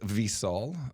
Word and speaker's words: Visol: my beautiful uh new visol or it's actually pronounced visol for my buddy gang Patel where he uh